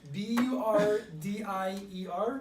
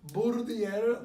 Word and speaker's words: Burdier: Leave a video pronouncing his last name. Burdier. Yep. Burdier.